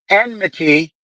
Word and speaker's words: enmity: Enmity.